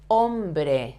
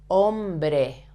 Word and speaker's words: hombre: Hombre, hombre, hombre. Remember also that the H, you never have to pronounce the H in Spanish. It's absolutely silent.